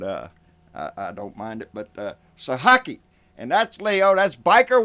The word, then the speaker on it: Sahaki: And I don't mind it, but Sahaki.